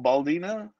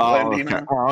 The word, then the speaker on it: Blandino: I think he called him Baldino instead of Blandino.